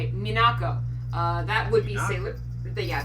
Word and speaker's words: Minako: out because I'm pretty sure that you are mispronouncing a sailor moon' name Minako that would be silly yeah that would be